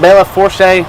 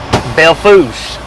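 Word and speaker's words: Belle Fourche: asked the locals I said how do you pronounce the name of this place I said is it Bella Fourche man they laughed at me I wished I'd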